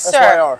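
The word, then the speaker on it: Syr: No, you would say it's sir. Sir. So s y sir. No. No. It's sir. Sir. You spell it s y r. It's pronounced sir. Like yes sir.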